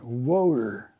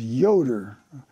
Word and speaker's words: Yoder: Well, it was my ball-thread gunner, and his name was Yoder. Well, the Germans pronounce the Y as a W.